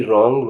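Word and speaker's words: wrong: डब्लू के बारे में आता हूं डब्लू कहां साइलेंट होगा डब्लू आर ओ एन जी रंग रंग माने गलत ए एन एस डब्लू ई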